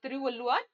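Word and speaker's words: திருவள்ளுவர்: ये जो आप तमिल नाडु का एक वर्ड है, मतलब ये प्रोनाउंसिएशन है, तो आप इसको एक बार देख ली, तिरुवल्लुवर, तिरुवल्लुवर। ठीक है, तिरुवल्लुवर इसको हम बोल सकते हैं, इंस्टेड ऑफ द करंट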